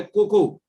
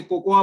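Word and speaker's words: cocoa: है, और वो है कोको, जिसको कई लोग गलती से कोकोआ बोलते हैं। कोकोआ नहीं है, हिंदी में उसका प्रोनाउंसिएशन कोको होता है, इंग्लिश में लिखा जरूर कोकोआ जाता है।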